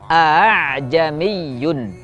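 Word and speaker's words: أأعجمي: Kata a'jamiyun di riwayat Hafiz an Asim ini dibaca menjadi a'jamiyun. A'jamiyun. Hamzah yang pertama dibaca dengan jelas sebagai huruf hamzah, sementara hamzah kedua dibaca antara hamzah dan alif.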